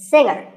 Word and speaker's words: singer: word is pronounced subtle another popular word with a silent letter is singer the g is silent now we say finger we say the g younger again with the g but singer no g and what would you